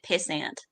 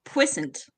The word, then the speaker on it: puissant: saying the word, but they keep pronouncing it pissant. Actually, okay, one second. I don't know. Sounds like a Pratchett joke. It's pronounced puissant. Puissant.